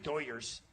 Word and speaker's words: Dodgers: And the Latin American or the Hispanics that love the Doyers, as they call them, they love the Doyers. That's how they pronounce the Dodgers.